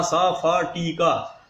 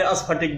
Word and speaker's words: स्फटिक: आधा स फ टी का, हरियाणा वाले स्फटिक बोलेंगे और बिहार वाले अस्फटिक बोलेंगे। आपको जैसा बोलना है बोल लीजिए, मैंने उच्चारण उसका बता दिया।